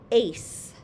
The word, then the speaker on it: ace: So when an E comes after a C, the C becomes a snake and makes an S sound. S. So this is going to be pronounced ace. Ace. So the E makes the A say its name, and the E also changes the sound of a C from a K to a S.